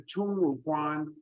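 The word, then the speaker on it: Tongmuguan: Now, you're going to hear me refer to Tungmuguan several times. So let me spell that for you so you can think about that. It's T-O-N-G-M-U, Tungmuguan, G-U-A-N.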